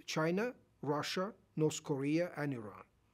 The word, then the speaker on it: Iran: The country, as we know today, Iran, that's how it's pronounced, because I've heard many different pronunciations. I've heard Iran, Iran, but the correct pronunciation is Iran.